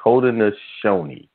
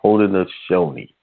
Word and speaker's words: Haudenosaunee: the indigenous people it's holding this shoney is how it was pronounced i think i was saying holding the sound is holding a shiny that is correct pronunciation